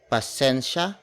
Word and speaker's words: pasensya: essentia ha ha bala pasensya ha abala pasensya spelled as p a s e n s y a it's one of several